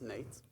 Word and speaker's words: Nejc: name is Nate my name is pronounce Nate some of you are